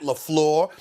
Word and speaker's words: LaFleur: His name is Matt LaFleur.